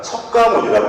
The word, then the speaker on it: 석가모니: 석가모니가 무슨 뜻이냐면 샤키야 무니라고 하는 산스크리트어를 한자로 바꿔서, 샤키야 무니라는 산스크리트어를 한자 비슷한 음으로 바꾼 게, 원래는 이제 중국 발음은 스자문이죠. 스자문인데 우리는 그 한자를 우리 발음으로 읽으니까 석가모니라고 읽는 거예요.